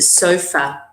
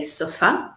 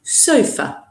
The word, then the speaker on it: sofa: TV and and sofa okay also a common pronunciation issue with this word in English is a sofa a lot of Italian students say suffer I think because you borrow this word in